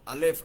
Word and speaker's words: Alef: Alef. Así suena, así se debe pronunciar o por lo menos así más o menos.